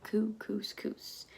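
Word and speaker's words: Kookooskoos: camp anyway welcome to camp kuku scoops it rhymes with moose that's another good thing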